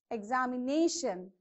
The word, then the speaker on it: examination: Next, examination. How do you pronounce? Examination. So even this is, so you have to check how many syllables you have. There are 5. So from the end of the word you have to place on the second. So first, shun, ne. So here is your stress mark.